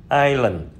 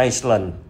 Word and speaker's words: island: Thì có ba từ Eskom là Island là hòn đảo. Ở đây chúng ta không có đọc là Iceland.